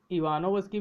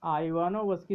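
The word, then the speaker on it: Ivanovsky: इसको कई लोग इवानोवस्की भी पढ़ते हैं, इसको आइवानोवस्की भी पढ़ते हैं। इंग्लिश में IWANOVSKY, ये स्पेलिंग है इनके नाम की। आप इसको इवानोवस्की भी पढ़ सकते हैं, आइवानोवस्की भी पढ़ सकते हैं, लेकिन आइवानोवस्की सही है। इवानोवस्की ये उच्चारण सही नहीं है।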